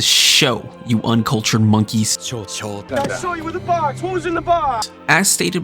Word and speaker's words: Shou: get into the nitty-gritty i want to confirm it is pronounced the show you uncultured monkeys as